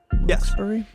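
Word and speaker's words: Wilkes-Barre: Wilsbury.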